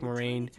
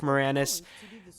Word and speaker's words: Moranis: do apologize for that mistake that I've done for Rick morine uh I feel very terrible that's the worst uh Mis mispronunciation that I've done it's Rick Moranis and Dave Thomas and